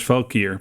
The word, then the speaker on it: Valkyr: Rebecca says, I have a city made up of neutrally aligned undead known as Valkyr, pronounced Valkyrie without the I.